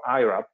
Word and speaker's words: IRAP: regional tax on production called IRAP or IRAP with an English pronunciation, as you see in